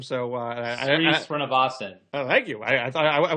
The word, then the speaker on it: Srinivasan: Everyone thought, and I can't pronounce his last name, so Srinivasan.